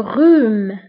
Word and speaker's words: rhume: بالنسبه للزكام هو le rhume. le rhume. le rhume. فانتبهوا le rhume يكتب ب h ولكن لا ننطقها.